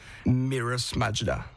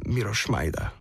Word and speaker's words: Miroš Majda: I was born Miros Majda, or Slovak pronunciation, Miroš Majda.